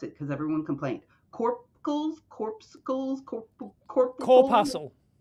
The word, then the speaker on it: corpuscle: He's like, everything is full of these, and I don't know how to pronounce it because everyone complained. Corpuscle? Corpuscle?